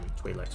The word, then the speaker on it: Twi'lek: I'm going to start pronouncing it Twi'lek because the game does.